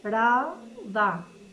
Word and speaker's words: Paralda: Ar, Paralda. E pronunciam Paralda. E estendem o A no fim, como se pensa a falar francês.